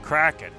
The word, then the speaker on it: KRKN: I didn't know how to pronounce it, and then I heard somebody on the stream saying, Kraken.